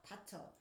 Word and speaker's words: 닥쳐: 여기서 말한 건 닥쳐. 어로 발음한다.